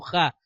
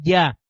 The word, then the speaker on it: Yah: la van a encontrar muchas veces como Ja pero lo correcto es ya porque la letra hebrea yod se pronuncia como una I y no como una J ahora si usted